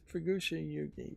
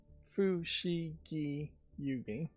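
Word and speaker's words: Fushigi Yûgi: Unless I'm thinking of a different series, Fukushi Yugi was, and I'm mispronouncing it, am I not? It's Fushigi Yugi, was one of the longest running anime shows.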